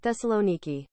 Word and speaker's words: Thessaloniki: wrong hahaha you mean Thessaloniki it might be me Thessaloniki but it would just be an emphasis thing I mean I'll literally just Thessaloniki Thessaloniki Thessaloniki Thessaloniki that's the one that's